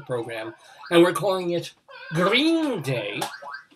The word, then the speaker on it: Greene: one green day but green day with an e it's a silent e which is excellent